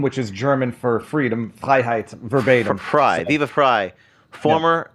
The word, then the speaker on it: Freiheit: Well, I don't care if anyone mispronounces it, but it's phonetically it's the first half of my last name, which is German for freedom, Freiheit, verbatim.